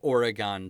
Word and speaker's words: Oregon: we say Oregon in Minnesota because we played Oregon Trail as children I know it's properly pronounced Oregon so I hope I don't offend